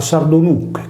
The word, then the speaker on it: Sardonyx: En la antigüedad, una piedra preciosa que adornaba el manto rojo de los comandantes era muy buscada: Sardonyx, escrita Sardo-Nyche y pronunciada Sardo-Nuche, por lo tanto Nuche Sarda (nogal sardo).